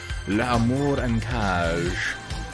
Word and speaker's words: L'Amour en Cage: That's not how you say it. I mean, it is, but also it isn't. Don't say it like that. It's just French. It doesn't have to be like stereotypical over the top French.